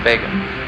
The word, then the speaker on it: Vega: pronounced rizle hog and liver's brightest star is pronounced Vega Sagittarius is the southern neighbor of aquala the